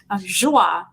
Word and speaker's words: Joie: I love joie. Yeah. Joie, that's right. That's the right way to pronounce it.